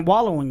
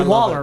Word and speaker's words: wallowing: I said wallowing. I said it right. Wallowing. You did it. Yes. I said it the right way. Is that a hand clap? Yeah, because I would say Waller, right?